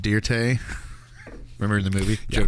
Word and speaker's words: Dirt: It's Dirte. It's pronounced Dirte.